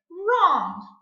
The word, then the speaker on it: wrong: Wrong. Do we hear wrong? No, the W is silent. We only hear the R at the beginning of the word.